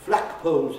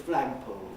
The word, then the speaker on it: flag poles: anyway here it is they say dreadful instead of dreadful and they say patches instead of fog patches and they say um yes flak poles instead of flag poles that type of thing